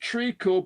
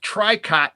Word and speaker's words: tricot: And you know, it is say it's pronounced trico because it's a French word, but it looks like tricot to me.